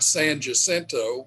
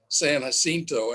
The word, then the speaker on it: San Jacinto: Everyone here calls it San Jacinto, where really it'd be San Jacinto, and I'm just wondering why that is.